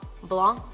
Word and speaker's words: blanc: Blanc, Blanc, I say it wrong. I know it's not Blanc, it's Blanc, Blanc, Blanc.